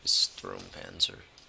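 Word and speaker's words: Sturmpanzer: Or Strumpanzer. I think that's actually how it's pronounced. Strumpanzer.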